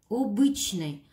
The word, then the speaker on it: обычный: Обычный. Ударение падает на «ы».